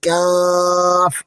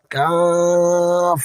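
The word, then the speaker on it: كاف: বেশি জোর লাগে না আমার সাথে স্বাভাবিকভাবে পড়ুন যেমন কাফ আবার পড়ুন কাফ খেয়াল রাখবেন এটি জন্য গত ক্লাসের মত ভারী বা মোটা না হয়ে যায়।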